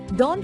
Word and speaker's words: daunt: were less than successful da rhymes with haunt another word which means